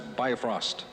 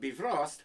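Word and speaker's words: Bifröst: the prince of evil aside from the mispronunciation nation of be frost this is off to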